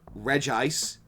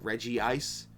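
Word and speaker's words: Regice: Um, Reggie, listen, I know it's pronounced re ice. You couldn't have put in a second I just call it Reggie Ice.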